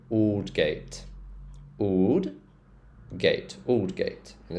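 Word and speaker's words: Aldgate: High Street sh ditch oldgate oh yeah they algate no it's old gate o so or sound so old gate old Gate Old gate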